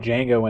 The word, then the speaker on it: Django: one I'm sorry uh Django Django Django the silent that should have been a that should have been the like line liberty and the pursuit of like no the D is silent would have gone what